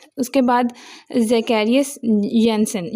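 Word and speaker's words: Janssen: उसके बाद ज़केरियस यसन ये जे नहीं बोलना वाई बोलना इसकी जगह प्रोनाउंसिएशन में।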